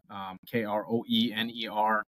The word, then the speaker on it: Kroener: Instagram is at the real Adam Kroener, Kroener. Don't try to phonetically sound that one out.